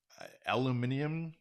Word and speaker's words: aluminium: Aluminium. I think that's a European thing. It's even spelt differently. They have an extra syllable.